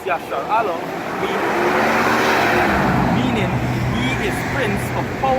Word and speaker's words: Yasharahla: The word Israel in Hebrew, it means, it's pronounced Yasharahla, meaning he is prince of power, right?